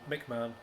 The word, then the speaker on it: McMahon: If you've never seen it, just Google Mick Mann, that which is spelled Mick McMahon, and his Judge Dredd.